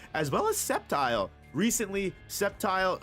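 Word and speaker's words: Sceptile: Septile or Skeptile. I used to call it Skeptile when I was a kid. Maybe that's the correct way to say it, but Septile um one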